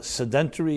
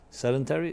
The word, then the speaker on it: sedentary: more uh slower more sedentary is the word SED sedentary that's how you pronounce it not sedentary okay senility is the